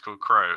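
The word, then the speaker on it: Krow: what about Gimbel Garrick crow it's crazy spelt with a K but he's called crow murder of and he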